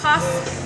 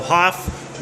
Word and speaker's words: Haff: pronounced what it is Hoff Brewing okay so Hoff with an A so get it right